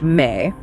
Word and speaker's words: me: They had something called the MI spelled me pronounced May.